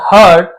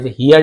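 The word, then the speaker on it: heard: वन डे एक दिन a local teacher हर्ड हर story line sorry story telling. तो एक स्थानीय शिक्षक सुनी तो इसे हियर का हियर पढ़ते हैं। हियर का सेकंड हर्ड है। हियर्ड नहीं पढ़ेंगे।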